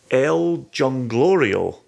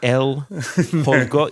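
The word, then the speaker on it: El Jolgorio: But it's an El Jonglorio. That's not how you pronounce the name, but we'll leave that in there.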